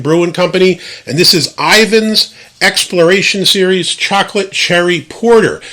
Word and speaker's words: Ivins: now other side note i always thought it was ervin's literally until i looked this bureau so for 40 years i have been mispronouncing it as ervins and it's really ivan's so i guess he